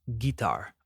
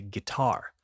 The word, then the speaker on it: guitar: I hear guitar a lot, but that's not how we say it. We say guitar with the emphasis on the second syllable.